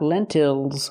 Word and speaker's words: lentils: And these are lentils. Not lentils, but lentils. Again, the stress is on the first syllable.